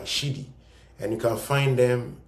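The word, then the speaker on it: Siddhi: It's spelled s i d d h i. s i d d h i. Siddi.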